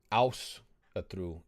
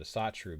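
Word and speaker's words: Ásatrú: a modern reconstruction and I'm saying it in the Icelandic pronunciation because that's how they do it in Iceland in America they tried to do it too and they called it a satu because they didn't pronounce it with accents and they tried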